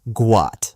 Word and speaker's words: Guat: His name is supposed to be Guat, pronounced Guat. But because of the mix-up, it became Gout.